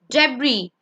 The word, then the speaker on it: debris: Debris. Debris means trash or scattered things. Debris. Debris. Debris. S is silent.